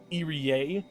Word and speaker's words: Irie: Which I'm just realizing I'm in some discussion videos, technically it's Irie for Irie's name, and Chie for her name.